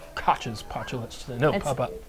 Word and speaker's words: Koch: And so now, again, just doing some digging, Koch's postulates, that's not how you say it, it's a German name, that's not how I say it. It's Koch. Koch.